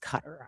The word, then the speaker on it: Qatar: I know it's pronounced cutter. I say cutter asset.